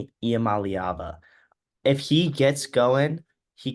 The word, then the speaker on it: Iamaleava: I think their defense is very good, but I also think that if Nico Iamaleava, I'm pretty sure is how you pronounce it, Iamaleava.